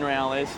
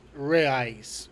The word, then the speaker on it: reais: It was for 10 reales. Not sure if we're pronouncing the Brazilian currency correct. Let us Is reais, not realis, but it's close enough. We get it.